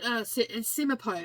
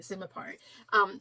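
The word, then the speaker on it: Simonopio: Simipo is how you say his name. It's a tricky name, but anyway, I think that is exactly how you say it, Simipo.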